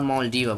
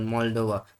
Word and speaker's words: Moldova: Mol- Mol- Not Maldova, but Moldova.